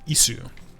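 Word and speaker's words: いす: Notice that there's two different sus. There's a tsu which is a character and then there's an su which is a different hiragana character. Isu.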